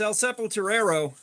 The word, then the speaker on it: El Sepulturero: It's El Sepulturero, but I keep mispronouncing it.